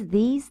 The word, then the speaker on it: these: This for the singular, sorry, has a short I. This whereas these has a long I E. You see those those two dots there? That indicates it's long. It means it's pronounced um as if it was two eyes.